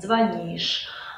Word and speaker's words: звонишь: «Звонит», «звонишь», «звонят». Можете запомнить это следующим образом. Во все глаголы, где корень «звон», ударение никогда на корень падать не будет.